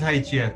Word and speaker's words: Hygieia: I'm not sure how it's pronounced. Is it Hygieia? It is Hygieia.